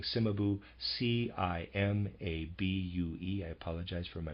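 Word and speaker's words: Cimabue: Heavenly in their pictures readers aside I am pronouncing simabu c-i-m-a-b-u-e I apologize for my pronunciation simabu and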